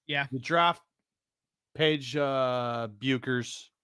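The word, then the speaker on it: Bueckers: you draft Paige uh buers Beckers ignore the U when you're pronouncing it uh you you trade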